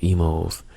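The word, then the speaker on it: Imo's: to have uh an emo Pizza over here in the St Louis area we have a chain of restaurant pizza of restaurants called Emos it's spelled i m o apostrophe s and their Pizza is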